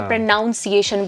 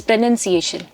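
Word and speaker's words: pronunciation: Container बहुत अलग-अलग words को अलग-अलग प्रोनंसिएशन को प्रोनाउंसिएशन बोलते हैं। वो बहुत गलत होता है। इट्स प्रोनंसिएशन।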